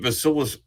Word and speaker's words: Vasilis: girl I don't want you all to meet vilus am I pronouncing it right yeah you're pronouncing it